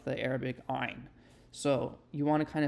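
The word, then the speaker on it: עין: of constricting your throat, kind of like you're about to throw up even. Ayn. It's called the pharyngeal stop, I believe.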